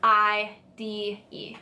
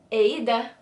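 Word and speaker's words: Eide: good luck it's e I de how do you say it i D I think it was actually like ADA but we say ID in America yeah a Twitter handle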